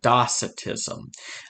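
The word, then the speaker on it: docetism: t i s m but the C is pronounced like an uh docitism uh in or a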